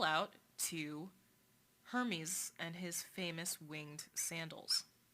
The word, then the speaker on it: Hermes: believe that he's dead hermes is his father so there we go and yes as far as i know it is pronounced hermes unlike the fashion label so that's that and